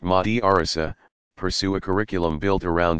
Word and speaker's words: madrasa: Students in a madrasa, pronounced madrasa, pursue a curriculum built